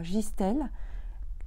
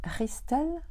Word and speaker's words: Gistel: Et puis 15 jours après, donc mi-décembre, nous allons à Gistel, en Belgique, et ça se prononce Ristel, je crois.